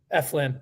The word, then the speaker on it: Eflin: I think he's a better pitcher than, is it pronounced Eflin? Eflin, thank you.